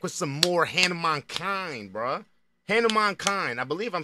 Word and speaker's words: Hanumankind: Hanumankind. I believe I'm saying that right, bro. I've been saying his name wrong.